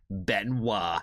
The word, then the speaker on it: Benoit: And I was like, "Yes, I do recognize the and how to correctly pronounce the name Benoa.